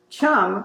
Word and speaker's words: chum: and then of course Chum rhymes with thumb so that's how you